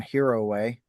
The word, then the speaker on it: Hiroe: Right, From Hiroe.